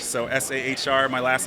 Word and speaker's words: Sahr: Sahr rhymes with car with a silent H, so S-A-H-R.